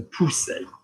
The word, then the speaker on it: pousser: the monkey, so pou, and the double S, is that going to give me the insect or the snake? It's going to give me the snake, so pousser, okay, pousser. If I had this word, but I've got one S, which is like a Z, so that is going to be poser, poser, okay, poser.